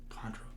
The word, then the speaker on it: Chondro: Chondro.